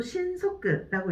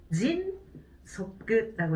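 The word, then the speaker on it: 迅速: 신속에 지금 밑줄이 들어가 있는데, 이것도 신속끝라고 읽으시면 안 되죠. 진속끝라고 읽으시면 되겠습니다.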